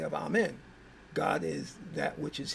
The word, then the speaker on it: Amun: And amen can also be pronounced amun. A mu n or a m. both are the same.